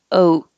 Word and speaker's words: oat: Oat. You don't have to release the T.